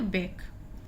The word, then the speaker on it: back: तो भी, दोनों ही स्थितियों में सी आपका साइलेंट होगा। जैसे BACK हम इसको पढ़ेंगे बैक।